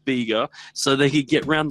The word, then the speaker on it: Beqa: after the town so they spelt it BEQ a it's big and still pronounced it bigger so they could get